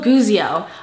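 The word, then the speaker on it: Guizio: Daniel guio I just I just figured out how to pronounce her last name I was like I say it so many times and to be pronouncing it wrong like every time that's like kind of offensive you know so I figured out how to say it it's guio so she just released these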